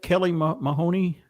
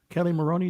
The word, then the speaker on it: Kelly Maroney: Isn't that Kelly Mahoney? Kelly Maroney, is that her name? Maroney. I always say Marino.